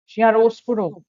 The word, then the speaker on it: chiaroscuro: The correct answer is option D chiaroscuro. Right, that is the correct pronunciation.